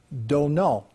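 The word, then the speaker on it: Domhnall: You know, so we're going to begin with Domnhall, the way he pronounces his first name, Domnhall Gleeson, who plays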